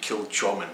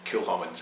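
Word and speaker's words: Kilchoman: you see that one some people say kill chomin it's not it's kill hormones so that is you know more of a hat than a cha there kill woman and that's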